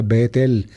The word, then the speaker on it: Betel: Cuando se juntan las dos palabras, casa y Dios, Bait, El, entonces se pronuncia Betel. Betel es casa de Dios.